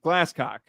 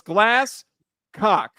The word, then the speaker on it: Glasscock: It's literally spelled as it sounds. There's no like, oh, it's spelled a little differently. No, it's Glasscock.